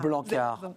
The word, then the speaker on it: Blanckaert: On ne prononce pas le T. Non. On est d'accord ? Non, c'est un nom flamand et AERT se prononce A. Blancard, votre parole vaut de l'or.